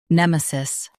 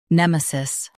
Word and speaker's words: nemesis: Today we will learn how to pronounce the word shown on the screen, nemesis. Both US and UK have the same pronunciation of this word, nemesis.